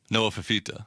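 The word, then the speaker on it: Fifita: It rhymes with Moa Mamita. Noah Fafita.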